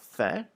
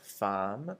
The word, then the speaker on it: faim: And this one, make sure that you're pronouncing faim, F-A-I-M, like faim, and not like femme or femme, because femme is the word for woman. So just careful with that one. So it should be pronounced faim. So sort of like an F-A-Y sort of sound, faim.